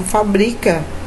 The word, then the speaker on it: fabrica: E também existe a palavra fabrica. Fabrica, sílaba tônica está no bri.